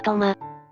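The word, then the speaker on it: 投馬: トウマ国の読み方はトマ。トマ、あるいはトウマだ。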